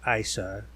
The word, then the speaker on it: Eissa: I.C.E, or I.C.E, like Isis, that's actually the official pronunciation, is the goddess we call Rolemaster now.